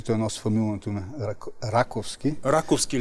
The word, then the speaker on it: Раковски: Раковски ли? Да, трябва да бъде. Би трябвало ударението да се премине, защото неговия род води началото от населения пункт, селото Раково, което е между днешния Котел и Сливен.